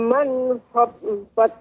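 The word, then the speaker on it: من خفت: Ya, ada catatan di sini Ibu, nun tidak boleh memantul. Manakha. Ya, ini juga Ibu. Terus jadi harus lebih fokus lagi Ibu. Silakan Ibu diulangi. Wa amma man wa amma man khaffat mawazinu. Ya, cara pengucapannya Ibu dipisah agar mudah. Wa amma man khaf. Wa amma man kha. Ya. Wa amma man khaffat mawazinu. Sudah bagus, nun dengan kho-nya dipisah. Tapi tinggal satu lagi. Tak sukunnya jadi memantul.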